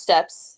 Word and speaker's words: Steeps: Steeps of giants no it's still pronounced steps is it still steps never mind yeah yeah